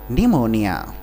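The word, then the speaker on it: pneumonia: को मौनी कोल्ड और निमोनिया इसमें बच्चे निमोनिया की स्पेलिंग गलत कर सकते हैं तो यह निमोनिया की स्पेलिंग है इसको आप एक बार देख ले इसमें पीस साइलेंट रहता है तो एक बार इसको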